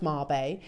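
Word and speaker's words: Mabe: very very special but what is a Marb Pearl well mab there we go pronounced Marb are a unique and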